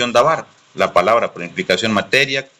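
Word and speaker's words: דבר: el hebreo sí que significa davar acta acuerdo pronuncia davar la palabra por implicación materia como de lo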